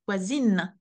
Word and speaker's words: voisine: And then because the E is added, the N is pronounced. Voisine.